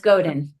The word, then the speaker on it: Godin: That's Godin.